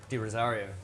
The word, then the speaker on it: De Rozario: How do you pronounce it? Di Rozario.